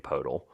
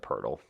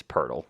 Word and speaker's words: Poeltl: new NBA Wordle game, Podel? Poeltl. Whatever. Podel, whatever. No, it's not. No, stop, please. I know. How do you pronounce his name? Say his name. Jakob Poeltl. There you go. Yeah, it's Poeltl.